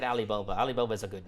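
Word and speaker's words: Ali Baba: It's pronounced Alibaba because foreigners can do the Ain sound.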